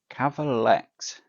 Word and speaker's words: Cavalex: So, CLA Cavalex, which I think we're all pronouncing it wrong. I think it should be Cav Alex because it's a malamation of Cav and Alex who are the owners of the company.